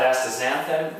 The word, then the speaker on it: astaxanthin: The third one is called astaxanthin. It's spelled X-A-N, but you say it astaxanthin.